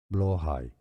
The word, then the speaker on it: Blåhaj: Depending on the Norse language you're talking about, it has different pronunciations. Let's break them down. Blåhoj is one of the pronunciations.